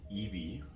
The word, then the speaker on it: Eby: So our new BC Premier, David Eby, I used to call him Ebby, I didn't know how it's pronounced, sorry buddy.